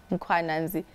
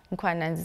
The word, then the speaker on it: Mkhwananzi: Mkhwananzi. is my first name. Mkhwananzi is my surname.